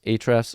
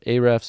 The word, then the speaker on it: Ahrefs: this one as well this one is ahrefs or a-refs I'm not really sure how people pronounce it but I pronounce it ahrefs and this is also